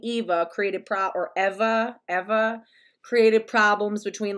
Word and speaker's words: Eva: to like process that her name is actually pronounced ever um like never ever you know but like